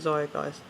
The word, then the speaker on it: Zeitgeist: Yeah, I call it Zeitgeist. You don't pronounce it like that.